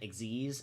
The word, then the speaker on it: Xyz: It's XYZ is the name of it. Exiz. And that's generally how you pronounce it.